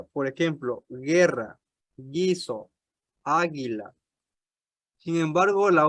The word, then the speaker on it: guerra: También tiene un sonido suave delante de las combinaciones UE o UI. Por la U no se pronuncia. Por ejemplo, guerra, guiso, águila.